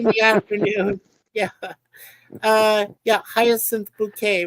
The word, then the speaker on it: Bucket: the premise High bucket who insists her surname is pronounced bouquet bouet although her husband Richard has said it was always bucket until I met you yeah that's the thing